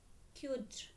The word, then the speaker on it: cdr: So in CDR it to be pronounced is a qt.